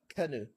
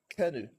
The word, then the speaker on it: Kano: Then Kano, it's not Kano, it's Kanu, Kanu.